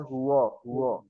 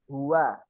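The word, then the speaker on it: هو: itu enggak adaah jadi jangan sampai membaca hu hu tapi yang benar adalah Hua ya huallahu ahu ahad dan untuk huruf Dal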